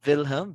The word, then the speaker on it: Wilhelm: read this one phil wilhelm because in german dr w pronounces letter v wilhelm so you read it